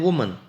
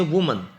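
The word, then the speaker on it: women: और ज़्यादा इस एक औरत तो वुमन होता है और MA आता है, ज़्यादा औरतें उसकी स्पेलिंग से WOMA की जगह ई हो जाएगा बेटे, उसको बोलेंगे अलग, फिर हम इसको बोलेंगे वीमेन, इसको बोलेंगे वीमेन।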